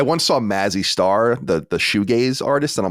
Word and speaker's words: shoegaze: Shoegaze. I always said shoegazi because I always like the way it sounds